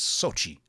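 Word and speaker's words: Xochitl: name is sochi um i actually worked with a girl named sochi that's why i was shocked when she told me how to pronounce her name i was like wait a second your name is x-o-c-h-t-i-l and your name is sochi she goes yeah yeah i didn't know that was silent yeah it's sochi gomez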